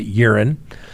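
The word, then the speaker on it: Euren: Now, urine, E-U-R-E-N, we're going to pronounce it urine, Balbuena was sentenced on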